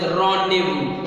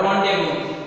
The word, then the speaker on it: rendezvous: time, at particular place, it is known as rendezvous. Okay, this is very famous word, rendezvous.